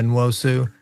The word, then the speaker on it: Nwosu: I'm gonna butcher the name. Can you say it again? Yeah, Nwosu. Uchenna Nwosu.